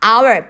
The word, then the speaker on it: hour: hour 발음이 H가 아니라 발음이 모음으로 시작하기 때문에 무조건 on을 써야 돼요.